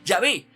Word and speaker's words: Yahvé: No quiere decir que esa definitivamente era la pronunciación, no, la pronunciación más fidedigna es Yahvé, pero gracias a los